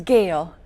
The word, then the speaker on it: Gayle: with Jan no salt I mispronounced that didn't I it's Gail okay okay that was really